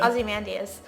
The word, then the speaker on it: Ozymandias: Ozymandias. Yeah, without the... You gotta get all the syllables in there, otherwise the sonnet doesn't Without work.